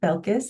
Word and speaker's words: Belkis: Everyone calls me by my first name, Belkis, and you are welcome to do the same. Some students also call me Dr. Belkis, and that works too.